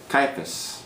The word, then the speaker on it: Caiaphas: Spell it out. C-A-I-A-P-H-A-S. Caiaphas.